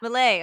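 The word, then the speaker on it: Milei: name Javier M ah mle okay I was close one rhymes with filet like f okay I won't forget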